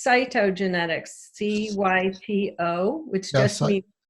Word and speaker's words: cytogenetics: degree in something called Saito genex am i pronouncing that correctly it's cytogenetics cyp Oh which I